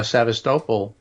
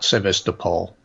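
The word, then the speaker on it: Sevastopol: uh which is uh sadistopal uh uh is that how you say that yes that's how you say it that's the Ukrainian pronunciation not civista Paul yeah I thought I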